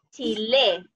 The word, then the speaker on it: Chile: Y la última palabra que nos queda, Chile. Yo vivo en Chile. Chile. Lale. ¿Está bien ubicada la sílaba tónica?